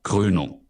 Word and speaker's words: Krönung: 발음 들어보면 Krönung. 크레누 해야죠. 을 발음입니다. 크레누.